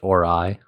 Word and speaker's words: Ori: Star Wars Star Trek or Stargate it is pronounced orai orai or the oray I want to say